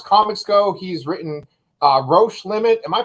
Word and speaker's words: Roche Limit: as far as comics go he's written uh roche limit am i pronouncing that right nailed it yeah nailed it